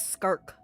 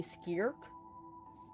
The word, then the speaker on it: Skirk: serology Oh weird that everyone is pronouncing her name wrong her name is skark what is it supposed to be skirk SK skar skar skar